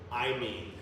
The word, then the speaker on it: imine: Amine, however you want to pronounce it, but not amine, imine.